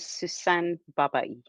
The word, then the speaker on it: Sussan Babaie: Could you each please pronounce your names correctly for me? My name is Niamh Coghlan. My name is Sussan Babaie.